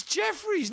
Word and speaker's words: Jefferies: It's Jefferies. No one's ever pronounced that Geoffrey, you fucking...